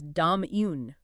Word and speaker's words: Dominique: According to the phonetic guide we're using, it's Domun. Dom, right? You want the stress heavily on the first and last syllables. It gives it a balanced almost percussive rhythm.